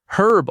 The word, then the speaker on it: herb: In American English, herb often drops the H sound completely and sounds like herb. In British English, the H is fully pronounced at the start.